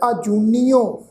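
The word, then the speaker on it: ਆਜੂਨੀਓ: सत्संगत जी ख्याल रखो, असी पाठ उच्चारण किया आजूनियो। आजूनियो पाठ है, ऐड़े नूं कन्ना जजे अखर ते होड़ी की मात्रा, फिर नन्ने नूं बिहारी ऊड़े नूं औंकड़ की मात्रा लगी हुई है। तो पाठ उच्चारण करांगे जी आजूनियो।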